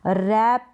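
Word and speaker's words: wrap: डब्लू से शुरू होगी लेकिन डब्लू बोलते वक्त साइलेंट रहेगा रैप रोंग राइट तो इन सारे स्पेलिंग में आप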